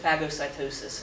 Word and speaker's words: phagocytosis: And this process is called phagocytosis. Or some people would pronounce it phagocytosis, and they're both pronunciations are okay.